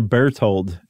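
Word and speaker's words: Berthold: really rethink this his brother was his brother bear told am I pronouncing that correctly b-e-r-t-h-o-l-d yeah okay his brother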